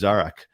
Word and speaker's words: Zarak: because it's uncomfortable or inconvenient my name is zarak and I will work with you for you